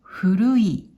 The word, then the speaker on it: 古い: 訓読みで、古い、古いと読みます。